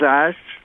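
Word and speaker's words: Asch: It is Ash? Yeah, it's okay, real just simple. like It's ASH, but it has a C in it. Okay. it sounds like Ash, ASH.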